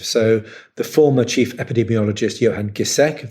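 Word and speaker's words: Johan Giesecke: the former chief epidemiologist johan gisek that's correct pronunciation of his name so ferguson's models were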